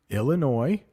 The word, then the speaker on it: Illinois: by seven states Illinois I know there is an S there but it's pronounced Illinois that is where the city of Chicago is located in the state of Illinois Indiana Ohio West Virginia